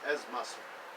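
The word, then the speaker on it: Ezz Masri: Am I pronouncing it correctly as? Yes, as Masri.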